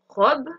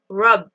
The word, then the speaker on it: rob: Tout simplement pour le verbe rob, donc voler, on va bien prononcer le O, rob, rob.